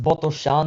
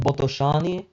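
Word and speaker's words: Botoșani: Then Botoan and yep it's pronounced Btoan, not Botoani.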